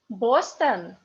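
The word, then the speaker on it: Бостон: Boston. Boston. So you must know where is the stress in the word, because O under the stress is O. O in unstressed position is A.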